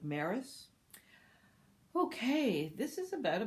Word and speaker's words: Marais: a i s and probably it's pronounced more like Maris okay this is about